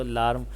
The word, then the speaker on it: alarm: AIARM has only two syllables in it. The first syllable A is like the A in China, and the second syllable alarm rhymes with the words harm, charm, and calm.